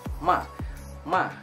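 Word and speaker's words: 骂: Nah, terus yang keempat itu adalah ma.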